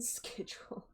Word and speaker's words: schedule: Until then, can you believe British people don't pronounce the C in schedule?